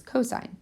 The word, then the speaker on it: cosine: again it's not a you don't call it C it's cosine that's how you say it and the last